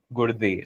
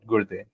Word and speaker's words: Gurde: it's the Marathi wala do, right? Gurde. So that's how we pronounce it. And also being Marathi, so uh, uh, that's the Marathi pronunciation for Gurde.